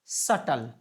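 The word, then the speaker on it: subtle: हम लोग बोलते हैं सटल है ना इसका उच्चारण भी आप ध्यान में रखिएगा जी इसका उच्चारण हम लोग सटल करते हैं सबटल नहीं पढ़ते जी सटल ओके अब आप इस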